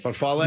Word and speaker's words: farfalle: Farfalle? Farfalle.